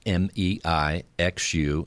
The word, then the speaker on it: Mei Xu: So, well, it's very easy to pronounce, unlike what people think. It's actually one of the easiest names, probably the shortest names. And I hope that you appreciate that it sounds like Mei Xu, and then we say, yes, Yes, she may.